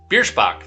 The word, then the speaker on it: Biersbach: over coba vaccine mandates from brianna virsha ah biersbach that's how we pronounce that uh minnesota republicans are